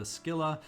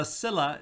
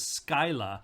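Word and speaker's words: Scylla: i blended the two so per google uh cilla is the british way of pronouncing it and the us way is skyla not skilla the way i was saying it but skyla is the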